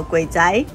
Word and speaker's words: 鬼仔: 因是因为小孩子的粤语发音叫鬼仔，吗？